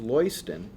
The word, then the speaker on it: Lewiston: the bowling alley in Lewiston Minnesota which he pronounced Loyce ttan and set up bowling